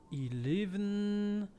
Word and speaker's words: Eleve: Eleven... So, wie wird's ausgesprochen?